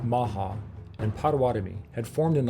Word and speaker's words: Omaha: The Omaha, pronounced Maha, and Pawatami had formed an alliance years earlier to fight and defend against their mutual enemy, the Sue.